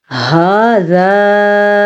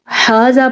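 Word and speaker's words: هذا: ھذا من عند اللہ، ھذا ہا کے تلفظ کا دھیان رکھنا ہے، ہا سینے سے نکلتا ہے، اگر آپ اس کو ھذا پڑھیں گے تو آپ بڑی غلطی کریں گے، اکثر لوگ ھذا پڑھتے ہیں، ہا نقطے کے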